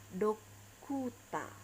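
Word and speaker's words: ドクター: Nah, dalam pelafalan Jepang, dokter ini akan menjadi dokuta. OR ini dokuta. Jadi pelafalan A. Kemudian jika diubah menjadi ke dalam Jepang dia akan menjadi do, ku, ta. Dokuta.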